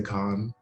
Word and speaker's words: Kaun: or say it wrong it's the k-a-u-n yeah period so what do people say like what are they saying instead of con uh my friend nigel